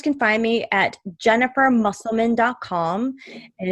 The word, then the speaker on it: Musselman: so my listeners can find me at Jennifer muscleman home and it's Jennifer and my last name is spelled mus SEL ma n comm and they